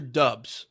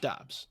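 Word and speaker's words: Dobbs: And I swear to God, is it Dobs or Dubs? How do you say that Do Dobs, right?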